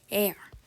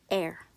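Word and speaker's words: Р: not in English P it's pronounced air I know it may sound like I'm saying the word air meaning in oxygen but no it's actually it's actually the way you're supposed to say it air I know it may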